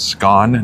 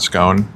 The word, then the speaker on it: scone: Okay, so Clark, are you agreeing with me that it's pronounced scone, not scone?